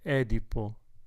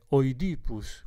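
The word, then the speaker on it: Οἰδίπους: guardare la penultima Esatto Edipo no Edipo e non è tipo in greco è in greco è oidipus quindi Edipo e alla greca è dipus invece sarebbe la latina si è affermata adesso la pronuncia Edipo anche per effetto della psicanalisi il complesso di Edipo Quindi ad un certo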